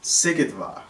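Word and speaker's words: Szigetvár: with the siege of sigit far we will talk about suleiman's love sikidvar that's how you say it i didn't know how to say that campaign shout out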